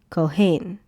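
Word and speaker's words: כֹּהֵן: And putting all the sounds together, you get cohain cohane. And that's how you get the the pronunciation of the word.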